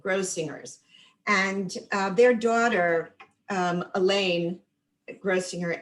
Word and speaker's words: Grossinger's: And Grossinger's is with the hard G, Grossinger's.